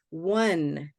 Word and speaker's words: one: good so we have first one is o-n-e like the number one that was a tricky one because it doesn't start with a W but it starts with a w sound one one one one like one two three okay and then Tam